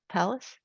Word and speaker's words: Pallas: Our next speaker is Brooke Pallas. Did I pronounce that right? Pallas?